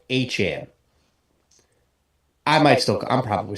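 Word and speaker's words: Etienne: from what he said his name is supposedly pronounced achan I might still I'm probably still going to end up calling him ETN that's just you know it's easier um it's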